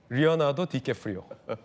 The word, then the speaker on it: 레오나르도 디카프리오: 리오나르도 디캐프리오라고 요즘 써야 되는군요. 저희 때는 레오나르도 디카프리오였는데 이게 원래 이름 발음과 좀 다르다라고 해서 표기법은 리오나르도 디캐프리오, 리오나르도 디캐프리오 이렇게 되겠는데 어려워요. 발음이 어려워요. 킴 카사디안, 뭐 오프라 윈프리 등등 뭐 초호화 하객들도 있고요.